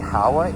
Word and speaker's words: Howa: I might have mispronounced the uh manufacturer of the kit. It's actually Howa H O W A